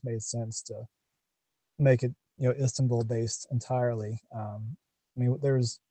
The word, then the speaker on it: Istanbul: You center it around Istanbul. Am I pronouncing that right? Istanbul. Istanbul.